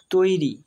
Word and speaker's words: তৈরি: তৈরি, তয় ঐকার তৈ, রয়ে হস্যই রি, তৈরি, অর্থাৎ তয়ে ঐকার যোগ হয়েছে, তয়ের সাথে ঐকার যোগ হয়ে তৈ হয়েছে আর রয়ের সাথে হস্যই যোগ হয়ে রি হয়েছে, সেই জন্য এর উচ্চারণ হবে তৈরি।